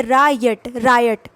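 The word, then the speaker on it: riot: इसको आपको बोलना है RA को बोलना है पहले रायट, ये इसको बोला जाता है रायट।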